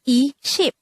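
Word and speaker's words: 이십: numbers is e and the korean translation of number 10 or increment of 10 inside a korean is cheap so when we say e ship it's the same as saying two sets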